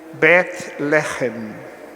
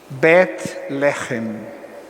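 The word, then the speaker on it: בית לחם: Belém é o modo como nós, na língua portuguesa, chamamos a cidade da Judéia, que em hebraico se pronuncia Bet-Lehem. Bet-Lehem.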